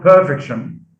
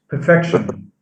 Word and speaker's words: perfection: what they would get so it's not perfection it's perfection so stress is shifted from the first syllable to the second okay i u s